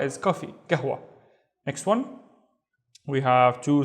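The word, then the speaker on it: قهوة: Remember G and then W gwa gwa and gahwa is coffee gahwa. Next one we have two syllables again the first syllable is fin.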